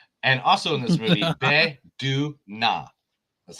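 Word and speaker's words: Bae Doona: And also in this movie, Be Du Na. That's how you pronounce it.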